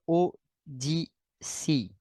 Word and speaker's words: Odysee: 41, et celle-ci le sera aussi, sont sur ODC. Hein? Ça s'écrit ODYSEE.